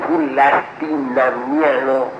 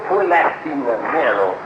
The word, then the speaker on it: fulastinamiano: El principio fulastinamiano, como ven ustedes, hay que saberlo pronunciar, lo voy a escribir. Lo estoy escribiendo para que lo vean. Fulastinamiano. Fulastinamiano. Tal como está escrito, fulastinamiano.